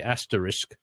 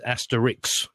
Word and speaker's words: asterisk: now because I say asterisk and everybody says Asterix oh ok yeah asterisk